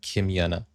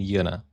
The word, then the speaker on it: Yuna Kim: Um, and normally called as Kim Yana. Um, Queen Kim Yana or Queen Yenna. That Okay, now that makes sense. Kim Yenna, Queen Yana. Interesting. Okay. Yeah, it rhymes.